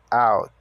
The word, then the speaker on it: out: alt depois do IF escreve o o t porém o o tem o som de a Então pronuncia out então sem with out